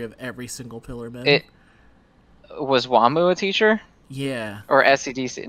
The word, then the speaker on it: Wamuu: And Wamuu has that similar spelling where his name is spelled W-A-M-U-U, Wamuu.